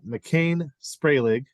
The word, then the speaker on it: Macain Spragling: guys uh McKees uh McCain spray leg correct am I pronouncing that all right yes excellent and Ryan Ruiz who